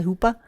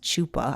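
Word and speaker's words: chuppah: arch yeah it's a Hoopa Hoopa I think that's how you say it Hoopa Hoopa it's spelled like c h u p p Ah but I don't think it's Chupa I think it's I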